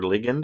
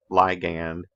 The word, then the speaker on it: ligand: back to that okay ligand or ligand i've heard it pronounced both ways generic for just whatever kind of molecule say this is a specific ligand and it's specific for